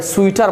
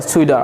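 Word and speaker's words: sweater: যে টিটা আছে না, আমেরিকানরা যখন টিটা উচ্চারণ করে, দুটি বাউলের মধ্যে যখন টিটা উচ্চারণ করে আমেরিকানরা, ওরা কি বলে? ডি বলে। যেমন ধর ওরাকে সুইটার বলবে না, ওরা বলে সুইডার, ওকে?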